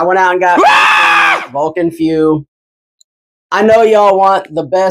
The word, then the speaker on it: Feu: I believe it's pronounced Feu. It's spelled F-E-U. If they were going for Fuego, which is Spanish for fire, I think. Y'all didn't know your boy was bilingual, huh? But that's spelled F-U-E-G-O. This is F-E-U. So it's got to be Vulcan Feu, right?